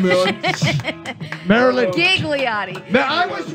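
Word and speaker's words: Ghigliotti: We have Marilyn Gigliotti. We're messing with your name, Marilyn. Marilyn. Gigliotti. I was right. I said it right, and you told me I pronounced it wrong You yesterday. kept pronouncing the H.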